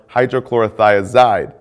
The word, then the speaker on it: hydrochlorothiazide: Potassium wasting ends in ide, like furosemide or hydrochlorothiazide. Both rhyme with dried.